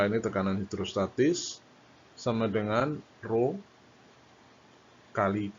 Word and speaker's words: rho: Kemudian ini ada Rho, ini Rho, bacanya Rho.